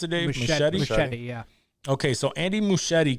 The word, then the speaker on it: Muschietti: How do you pronounce it, Dave? Machete, yeah.